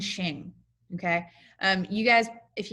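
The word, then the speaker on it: Qing: just a little fyi the q and the i in chinese is pronounced so ming and shing okay um you guys if you guys in class make a comment about quing or anything that'll be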